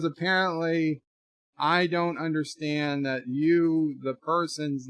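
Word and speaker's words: Hugh: Apparently H-U-G-H is pronounced more like H-U-E as opposed to Y-O-U.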